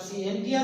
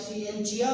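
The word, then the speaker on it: scientia: इसकी दो प्रोनाउंसिएशन होती है, आप सिएंटिया भी कह दें ठीक है, आप सिएंचिया भी कह दें ठीक है।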